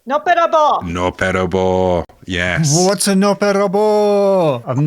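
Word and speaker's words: のっぺらぼう: Noppera-bō, yes.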